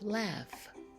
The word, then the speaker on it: laugh: rough and we have laugh both words have an H but the H sounds like an F repeat these words after